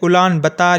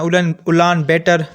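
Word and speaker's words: Улаанбаатар: वो है उलान बतार या उलान बेटर, जैसे आप इसको प्रोनाउंस करें आपकी मर्ज़ी है।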